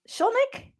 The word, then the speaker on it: Schulnick: I'm your host, Anna Del Rio, and this week we're joined by Courtney Schnik. Did I pronounce that correctly?